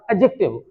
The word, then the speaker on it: adjective: pronunciation सही हो जाएगा एडजेक्टिव इसमें डी नहीं बोलना है ड साउंड नहीं बोलना है ये साइलेंट है यहां पर एडजेक्टिव एडजेक्टिव इस तरीके